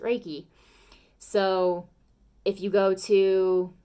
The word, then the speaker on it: Reiki: you go to like yin yoga with reeky or Reiki or however you want to specifically pronounce it I pronounce it Reiki so if you go